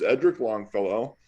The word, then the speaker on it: Edric Longfellow: Actually, call me Edric because I mispronounced my name in my early days in the SCA. But the proper pronunciation is Edric Longfellow.